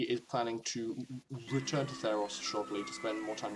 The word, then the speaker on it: Theros: It's pronounced This Theros.